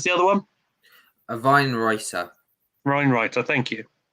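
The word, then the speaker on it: Wienroither: Weinreiter, thank you. It's like how they pronounce Vienna.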